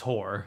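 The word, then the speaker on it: Hoare: But H-O-A-R-E. Yeah, but still it's Whore.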